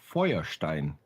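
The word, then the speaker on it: Feuerstein: sorry joshua fearstein yeah point foyerstein is the correct pronunciation because it's german that's right he's a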